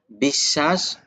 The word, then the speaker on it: বিশ্বাস: যেমন বিশ্বাস, শকে দুইবার উচ্চারণ করাইছে, বিশ্বাস।